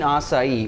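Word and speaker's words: açaí: and soy reduction sauce if you've never seen assai or you've seen it and never known how to pronounce it that a AI that's pronounced assai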